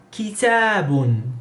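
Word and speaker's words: كتابٌ: Con doble dhamma sería kitabun, kitabun.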